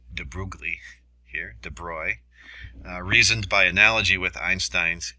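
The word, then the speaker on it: de Broglie: our matter waves so de bruy that's how you pronounce this de bruglie here de broy reasoned by analogy with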